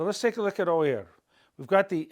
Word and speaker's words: oír: Let's take a look at the verb to hear, oír. There's an accent on the I to break up this diphthong. Otherwise it'd be oir, oir, oir. It's oír, two separate sounds.